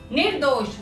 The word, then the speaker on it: निर्दोष: रेफ पढ़ने का क्या सही तरीका है? पहले नी पढ़ेंगे, फिर ऊपर वाला रेफ पढ़ेंगे, फिर नीचे वाला अक्षर पढ़ेंगे, तो हम रेफ को सही रूप से प्रोनाउंस कर पाएंगे। र आधा होता है तो वो रेफ बन जाता है।